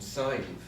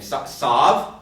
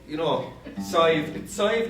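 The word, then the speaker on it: Sadhbh: Can you imagine living in America and you were christened Sive?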